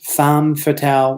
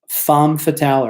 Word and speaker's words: femme fatale: it was called the femme fatale which is pronounced found fatale which is spelled fe mme fa ta la femme fatale a femme fatale is a name given to this bold dynamic